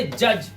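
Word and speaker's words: judge: इसी तरह से जज, जज मतलब न्यायाधीश, यहां पर क्या है हमारा? डी साइलेंट है, तो हम सिर्फ जज पढ़ रहे हैं।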